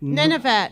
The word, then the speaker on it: Nunavut: Nunavut, yes. I'm having none of it. None of it, yes.